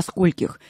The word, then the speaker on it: скольких: далее в официальных письмах до скольких вы работаете сегодня Михаил до Сколь до скольких до скольких Да правильно до скольких не до скольких и не до скольки вы работаете а именно до скольких потому что сколько мы